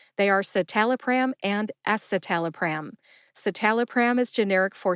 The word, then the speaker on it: escitalopram: don't cover pharmacology here we just talk about pronunciations and today we are talking about two SSRI anti-depressants they are satal pram and esalaam satal pram is generic for Celexa and ESAT